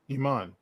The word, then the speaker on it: Iman: Iman.